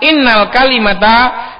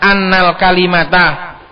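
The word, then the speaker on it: أَنَّ الْكَلِمَةَ: Innal kalimata ala qismaini. Ini bacanya bukan innal kalimata, ini sebenarnya annal kalimata.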